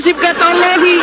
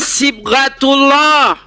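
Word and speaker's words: صبغة الله: Aduh bukan siatallahi. Aduh baca Quran aja enggak bisa ini orang. Aduh bacanya sibgatullah.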